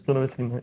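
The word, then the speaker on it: Grüner Veltliner: Yes, Gruner Veltliner, yes. The pronunciation is always very hard for me.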